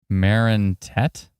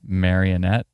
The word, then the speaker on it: Marinette: Marinette, not marionette.